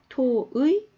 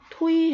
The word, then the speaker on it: 토의: 마름 하 죠 자 부위가 이번엔 뒤에 올 때는 더 가져갈 브금이 가능합니다 토의 토오이 우리 토의 해보자 해도 되고 토이 해보자 즐 다 됩니다 자 이것은 차이가 뭐냐면